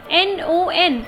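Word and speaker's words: non: N-O-N is pronounced as no in French.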